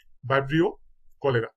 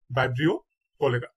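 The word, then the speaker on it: Vibrio cholerae: তাহলে হিবিস্কাস রোজা সিনেন্সিস ভিডিওটা কয়েকবার দেখবেন তাহলে উচ্চারণ গুলো ঠিক হয়ে যাবে ইনশাল্লাহ কলেরা কলেরার জীবাণুর নাম হচ্ছে বাইব্রিও কলেরা বাইব্রিও কলেরা ম্যালেরিয়া জীবাণু ম্যালেরিয়া জীবাণুর নাম হচ্ছে প্লাজমোডিয়াম বাইবেক্স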